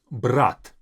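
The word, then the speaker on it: брат: Next word is brat. Brat is brother. Brat. Now, brat is different from brat. Brat is to take, brat is brother. The difference is in the very last t.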